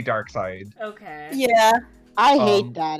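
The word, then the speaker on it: Darkseid: dark side yeah so does it pronounce dark side or dark seed it's meant to be dark side okay yeah i hate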